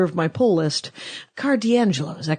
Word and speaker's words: D'Angelo: the the controller of my pull list card D'Angelo is that correct that's announcing that correct that's the correct pronunciation excellent earth to comics dot-com here in